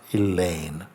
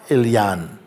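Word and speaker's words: Eliane: Not Elaine. E-L-I-A-N-E. Is pronounced? Elaine. Not Elaine, she says. Spoken E-L-Y-A-N. Ilyan or Ilyan.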